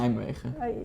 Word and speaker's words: Nijmegen: How do you say- Nijmegen.